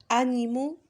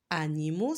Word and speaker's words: animaux: titre répéter après moi il y a le X mais on le prononce pas bien sûr parce que c'est le pluriel c'est quoi le singulier à votre avis animaux c'est beaucoup lorsqu'il s'agit